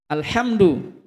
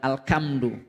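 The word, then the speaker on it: الحمد: Alhamdu bukan alkamdu ya arrahmanirrahim kan nanti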